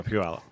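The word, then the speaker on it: Puyallup: Palop. Woohoo. Yeah. But it's spelled P U Y.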